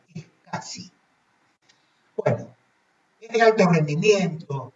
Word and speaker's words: SCSI: Y la SCSI, esa palabra se pronuncia SCSI.